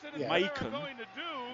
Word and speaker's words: Macon: And more importantly, Dean, Macon rhymes with bacon.